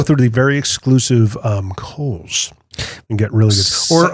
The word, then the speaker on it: Kohl's: the very exclusive um Kohl's and get really good or uh Tractor Supply silent h at the on the coals yeah you know also